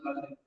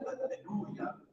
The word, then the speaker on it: alleluia: E siccome l'alleluia, noi accettiamo la penultima sillaba, ma l'accettazione ebraica andrebbe sull'ultima, il compositore, chiamiamolo gregoriano,